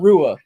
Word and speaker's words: Rua: you say it mauricio rua rua there you go no anytime you see mauricio hua it's shogun hua shogun hua there you